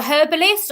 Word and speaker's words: herbalist: I love that you guys pronounce the H. You guys are so cute with your accents on the other side of the pound. We don't have an H.